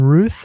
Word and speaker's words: Routh: I don't have It's Yeah, just Ruth. Bron I was like everyone you speak to is just like a different pronunciation for every given a strange um strange film.